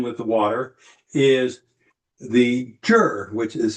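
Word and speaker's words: zhi: The other aspect of this, the aspect of spirit that is associated with the kidney and with the water, is the jur, which is spelled Z-H-I, and it is translated as will.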